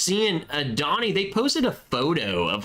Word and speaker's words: pho: Pho, which is pronounced pho, That's right. I knew that. I'd forgotten. is Vietnamese.